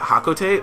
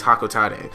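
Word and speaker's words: Hocotate: to planet hakotate and i always pronounce that hakote but apparently it's hakote so yeah my next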